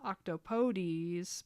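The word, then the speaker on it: octopodes: It is meant to be pronounced octopodies, but I will say octopod out of spite.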